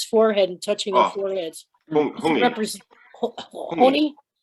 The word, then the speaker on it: hongi: Hongi. Represent Honi? How you spell that? Hongi. H-O-N-I? Hongi.